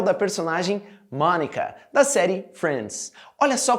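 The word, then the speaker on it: Monica: é o da personagem mônica da série friends olha só com os personagens pronunciam o nome dela marca marca marca marca mônica mônica mônica a letra o' e mônica só quase com um a má mônica mônica lembrando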